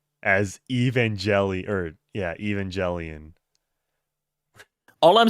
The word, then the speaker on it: Evangelion: that's self-referential humor the like gun thing even mispronounces Evangelion as evangeli or yeah Evangelion all I'm saying is is that game would